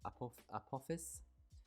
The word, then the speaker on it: Apophis: So the name of this coaster, I did a bit of research on Google or Wikipedia, and I think it's pronounced Apophis, which means the serpent of chaos.